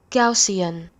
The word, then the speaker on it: Gaussian: It's the Gaussian. Yeah, that's how you say it. I bet you didn't know that, huh? It's called Here. I don't know if you can hear it, but you people pronounce it wrong.